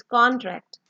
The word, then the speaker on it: contract: सो when we put stress on the first con, that is the noun, that is contract, contract मतलब कौन थोड़ा आपने लंबा करके बोलना है।